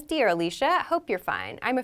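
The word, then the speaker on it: Alisha: example is my name it's spelled a-l-i-s-h-a i pronounce it alicia some people might choose to pronounce it alicia so that's up to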